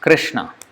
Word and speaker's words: Krishna: clearly for example rah they can't say easily like Krishna Krishna they say Krishna it's not Krishna it's Krishna or it's not even Krishna it's Krishna as we have learnt so they can't